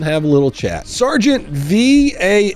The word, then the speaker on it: Valle: was pronouncing that right I thought it was Valley or valet or let's watch a